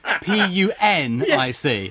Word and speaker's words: Punic: And that's the end of the First Punic War.